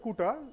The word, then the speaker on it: CUTA: No, actually, Web Kuta, CUTA, but we should pronounce Kuta.